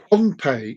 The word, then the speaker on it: Pohnpei: That's not Pompeii where it had the volcano went. It is Pompeii. It's spelled Pohnpei.